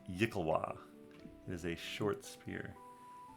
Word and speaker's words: yklwa: I believe it's pronounced Yikalwa.